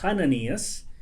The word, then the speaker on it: Ananías: Ananías, que se pronuncia en realidad Hananías, significa Yahweh ha mostrado